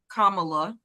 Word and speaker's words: Kamala: we gonna do next uh Biden has endorsed Kamala that's how you say her name like K